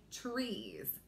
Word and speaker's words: trees: word trees all right so if you heard that TR blend at the beginning term we don't say it like that the way we say it it does sound like CH but it's actually that TR blend that we want to blend those letters together with so we start out